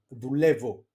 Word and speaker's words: δουλεύω: Then they are pronounced as av, ev. Like for example, αύριο, Ευρώπη, Παρασκευή, δουλεύω. Okay, you see my pronunciation there.